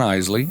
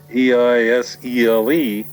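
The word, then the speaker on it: Eisele: Don had two N's, and Isley was the name. It was always mispronounced. It was spelled E-I-S-E-L-E, but it came off Eisel and Ezel.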